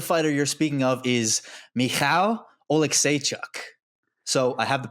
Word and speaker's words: Michał: I believe the fighter you're speaking of is Michał Oleksiejczuk. So I have the pronunciation file.